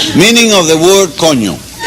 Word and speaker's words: coño: Spells C-O-N-O. Ñ is the end with a little thing on top. And it's pronounced coño. Coño.